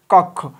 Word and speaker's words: কক্ষ: রাখবা খ ওকারে খ তাহলে ক যুক্তক্ষ কক্ষ তাহলে আমরা এটা লেখার সময় এটা লিখি আর বলার সময় বা উচ্চারণের সময় আমরা লিখি ক ওকারে ক আর ক খ ওকারে খ কক্ষ তাহলে এটা কি হবে